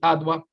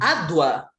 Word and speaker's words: Adwa: Letra A, Batalha de Adwa.